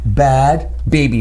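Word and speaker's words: Bhad Bhabie: B-H-A-D, Bad Baby, B-A-B-I-E. Bad. That's her rapper name.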